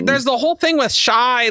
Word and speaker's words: Shai: is my secret identity Shai Ariel yeah the M born serial killer Shai lelel very good oh I believe it's supposed to be pronounced Shay actually right I'm not gonna